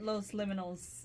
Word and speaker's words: Los Liminals: At Los Liminals on Instagram. Okay. So liminal rhymes with criminal. Just add up S, make it plural.